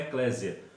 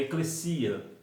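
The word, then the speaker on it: ekklesia: Primeiro, que o nome não é eclésia, nós escrevemos eclésia, mas o nome é eclesia.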